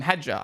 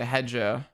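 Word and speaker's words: Hadjar: way, but I mean, his name is literally spelt Ja. So if I say Hedger, I don't know, Jer just sounds longer. Hedger.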